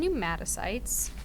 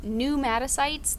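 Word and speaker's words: pneumocytes: And so your type 1 and type 2 pneumatocytes, the P is silent, sorry.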